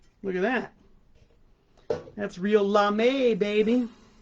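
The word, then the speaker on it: lamé: at that that's real la may baby not lame but l-a-m-e accentuated for the french pronunciation of la me that's how i dress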